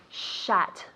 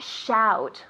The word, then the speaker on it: shut: focused on your pronunciation shut shut not shout what is shout in Spanish good and they're similar you say shout shut shout shut but not shoot shoot it shoot so this pronunciation you have to relax your mouth shut shut tell me